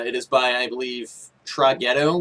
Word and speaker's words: Traghetto: But it is by, I believe, Traghetto would be the way you would pronounce that, I guess. Just T-R-A followed by the word ghetto altogether meshed up in one word.